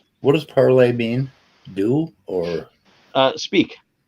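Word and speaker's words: parlez: word by itself that final consonant gets dropped phonetically what does parlay mean do or uh speak oh speak okay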